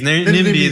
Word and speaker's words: NIMBY: Yeah, because I mean NIMBYs, NIMBY.